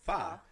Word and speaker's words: Pho: Pho is spelled Pho, but it's pronounced Fa.